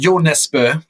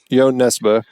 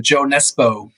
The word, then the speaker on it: Jo Nesbø: It's Morten Tildum's 2011 film, Headhunters, based on is it Jo Nesbø? Is that how you say it? Jo Nesbø. Jo Nesbø. Most people call him Joe Nesbø. So that's fine, I guess. I know. That's my Americanization of his name.